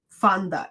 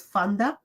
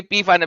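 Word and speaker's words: Pfander: and you will know why Fonda F sorry Fonda it pronounced says Fonda okay Fonda yeah all right F PE silent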